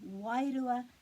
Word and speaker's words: wairua: So the r has a little bit of a roll.